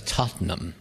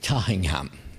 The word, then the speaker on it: Tottenham: North London in a place generally referred to as Tottenham. But being a true dub, he called it Tottingham.